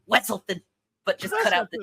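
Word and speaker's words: Weselton: He's not the Duke of Wizelton. The Duke of Wessleton. Wessleton.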